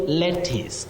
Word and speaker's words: lettuce: So you also have U in lettuce, but it takes the sound E.